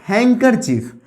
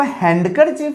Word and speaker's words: handkerchief: और एक वर्ड होता है जैसे HANDKERCHIEF, हैंकरचीफ। हम लोग इसको हैंडकरचीफ नहीं पढ़ते, रुमाल जिसका हिंदी होता है, इसका हिंदी रुमाल होता है, इसको हम लोग हैंकरचीफ पढ़ते हैं।